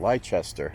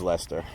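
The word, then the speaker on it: Leicester: for example but that spelled anyone else would pronounce that leester that's how it's spelled but being from New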